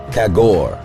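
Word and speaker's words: khagore: Kagor. Pronunciation, kagor.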